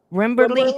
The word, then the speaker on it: Wimberley: in winning winning how do you say that Wimberley Texas Texas yeah Wimberley Texas awesome to know so that's awesome right